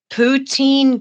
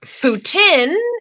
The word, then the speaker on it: poutine: Poutine good, Putin bad. And the worst part is half of them can't pronounce poutine. So they call it Putin.